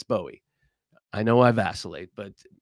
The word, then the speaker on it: Bowie: someone and say look I'm A Yank it's Bowie you can say buoy all day long uh but it's Bowie I know I vacillate